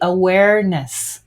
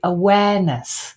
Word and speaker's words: awareness: R being indicated there the Americans would say awareness with the ER sound the English would say awareness without an R sound